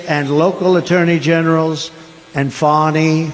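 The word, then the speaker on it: Fani: attorney generals and fonnie fonnie you know fonnie spelled f a n i my name is fonnie f a and I I don't figure it she put a little French accent on the word with her lover Wade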